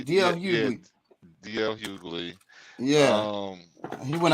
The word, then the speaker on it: D.L. Hughley: stuff on that for a little while, but J.L. Hughley, did you hear about that? Oh, I heard about that as well. Yeah, that D.L. Hughley. I said his name wrong. D.L. Hughley.